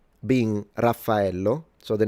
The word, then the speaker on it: Raphael: And I remember that when when I was in Japan, people would pronounce it Raphao. So they don't do the doubles, double F and double L, Rafao.